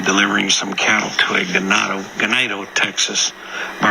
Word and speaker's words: Ganado: And then tomorrow we'll be delivering some cattle to a Ganado, Texas. But I always want to say ganado because it means cattle in Spanish, but it's pronounced in Texas ganado.